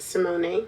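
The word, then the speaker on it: Symoné: I think that's how she said her Her name is pronounced Simone.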